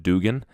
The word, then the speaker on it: Dugan: get dum dum Dugen everybody's call him dum dum Dugan it looks like Dugen to me but I'm dyslexic so